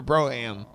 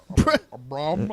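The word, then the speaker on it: Brougham: Is it, how do you say it? Brom or Broham? A Brom. A Brom? What's up, Broham? It's a Brockham.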